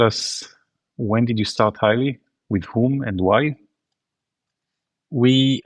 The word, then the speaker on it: Hyli: So, uh the sound is the same. We went from highly to highly, but we tweaked a letter.